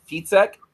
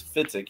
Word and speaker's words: Fietzek: The correct German pronunciation is Fietzek, but the American pronunciation is Fietzek. You're in a fit because you're sick. Okay, well, I like Fietzek, to tell you the truth, Justin, so we'll use that.